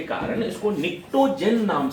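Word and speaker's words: pnictogen: तो फर्टिलाइजर के रूप में यूज होने के कारण इसको निक्टोजेन नाम से, इस फैमिली का एक नाम क्या हो जाता है, बी साइलेंट होता है, निक्टोजेन पढ़ते हैं, निक्टोजेन फैमिली भी बोलते हैं।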